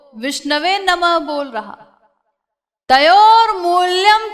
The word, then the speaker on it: विष्णवे: तो वो बोलता है गंगाय नमः, जमुनाय नमः, विष्णाय नमः, इस प्रकार बोलता है। तो भगवान ये नहीं नोट करते कि वो अशुद्ध उच्चारण कर रहा है, विष्णाय नमः बोल रहा है, और विद्वान जो